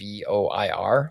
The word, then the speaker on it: Ardenvoir: Ardenvor? It's Ardenvoir. So I say Ardenvor. I don't know how you pronounce it.